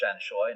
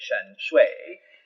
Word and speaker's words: Shanshui: But then Justice Mangatal, when we get to the case of China Shanshui, and if we're talking Cantonese, it is pronounced Shanshui, not Mandarin, where they'd say Shanshui.